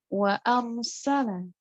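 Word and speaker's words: وَأَرْسَلَ: Nah, kita bisa lihat di bagian contoh wa arsala. Ro di sini dia sukun, tapi dibaca tebal karena sebelumnya harokatnya fathah. Jadi bacanya ro walaupun sukun tetap tebal, tetap tafkhim.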